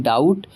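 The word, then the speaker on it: doubt: बल्कि हम इसे पढ़ते हैं डाउट। तो क्यों पढ़ेंगे डाउट? क्योंकि टी से पहले बी है और एस रूल कहता है कि अगर टी से पहले बी हो तो बी क्या हो जाएगा? साइलेंट हो जाएगा।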